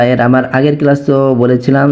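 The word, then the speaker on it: قُلْ: রাহিম কফ লাম পেশ কুল হামজা জবর আ উল আ কফ টা মোটা হরফ সেই ভাবে উচ্চারণ করতে হবে লামে সাকিন আছে লামটাকে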